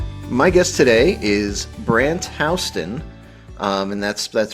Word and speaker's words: Houston: My guest today is Brandt Hston. Um, and that's that's pronounced with the the correct the correct way where where it's Hston, not Houston.